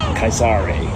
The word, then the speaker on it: Caesar: so they used I's Kais Ulius Kaisare is how it would have been Kais Ulio Kaisar is how it would have been pronounced and then dictator perpetual